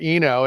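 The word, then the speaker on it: Oeno: The reason it's called Eno, and it sounds weird because it's spelled O-E-N-O. In the wine world, the science of wine is called enology. So it's spelled O-E-N-O-L-O-G-Y, enology. So it's just short for Eno, O-E-N-O. So drop the O, it's Eno.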